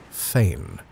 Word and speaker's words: Phaeton: In a couple of hours, the train idled into a tiny station called Phaeton, but unaccountably pronounced Fane.